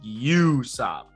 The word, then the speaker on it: Usopp: sub you would say you say like you like you sob that's how you would say it but it's it's yusup